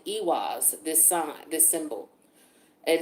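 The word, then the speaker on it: Eihwaz: first rune that we have it is called ewas this sign this symbol it is spelled e-i-h-w-a-z and this talks about being defensive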